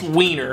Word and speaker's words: Weiner: Yes, it's pronounced Weiner, as in, Anthony is a member of the U.S.